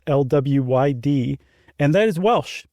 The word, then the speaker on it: Mari Lwyd: known as the Mari Lwyd, which is not spelled like it sounds, at least not the second part. It's Lwyd, and that is Welsh.